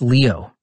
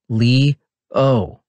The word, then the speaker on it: Leo: tell you getting annoyed now it's leo lee oh i say cause maybe